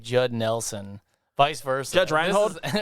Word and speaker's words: Judge Reinhold: Judge Reinhouse on a surfboard, like with a fucking ice cream cone or some shit. Love how you get part of his name wrong every time. Judge Reinhold.